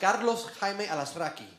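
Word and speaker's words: Carlos Jaime Alazraqui: Directly in Spanish is actually pronounced Carlos Hime Alaskrai.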